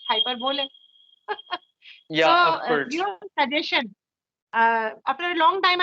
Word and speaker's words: hyperbole: will tell you a few words like uh hyperbola I used to call it but the pronunciation of that I came to know about that is hyperbole I was oh my God like I I